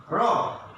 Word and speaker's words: robe: next come rob, R-O-B, rob, R-O-B, rob, and another robe. খেয়াল করো উচ্চারণটা, খেয়াল করো রব মানে সোজাসুজি হবে, আমাদের উচ্চারণটা হবে এখানে সোজাসুজি রব। আর R-O-B, রোব, দ্যাট মিনস এখানে হবে ওটা চেপে যাবে একটু, এটার উচ্চারণ হচ্ছে রোব, ওকারের মতো আসবে বাংলায়, R-O-B, রোব।